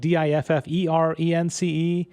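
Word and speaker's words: différance: differently okay and the the point he's trying to make is it's pronounced the same but it means something different and it's spelled differently and the only way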